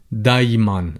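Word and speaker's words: دايماً: be the glottal stop people tend to replace it with a lighter sound which here would be the e so people would say daiman instead of the iman just to bear that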